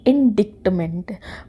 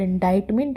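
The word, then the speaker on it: indictment: अब इससे बहुत सारे लोग प्रोनाउंस करेंगे इंडिकमेंट। बट यह गलत है। इंडिकमेंट नहीं होता है। इनाडाइटमेंट होता है। और इंडाइटमेंट एक नाउन वर्ड है, संज्ञा है।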